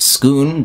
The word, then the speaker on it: Scone: Here we are at Scone Palace in Scotland. You'll be familiar with Scone if you watch my video on the Stone of Destiny. I've been told it's pronounced Scoon, but I'll be dead